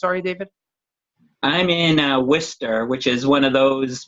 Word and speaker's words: Worcester: I'm in Worcester, which is one of those words that if you look at the spelling of it, it's nowhere near what it's pronounced, but it's right in central Mass.